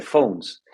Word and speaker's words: Fones: Un dato interesante, que lo cuento cuando puedo, mi apellido, como tú decías, se escribe Fones, pero en realidad es inglés, entonces se dice Phones.